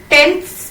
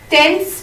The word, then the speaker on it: tenths: We will start with tenths place, TENTHS, tenths place, tenths. The pronunciation is tenths.